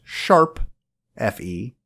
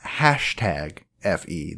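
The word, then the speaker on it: ♯FE: Effie yes it's pronounced sharp Effie not hashtag Effie that is not a pound sign or a hashtag it is the musical notation symbol for sharp if you don't know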